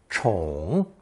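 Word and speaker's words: 宠: Today's sixth character based on the dragon phonsemantic element is the roof radical suspended above the dragon pronounced third tone chong.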